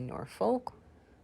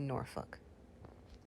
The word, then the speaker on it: Norfolk: virginia and norfolk virginia norfolk we don't pronounce that l we don't say norfolk we say norfolk washington washington washington so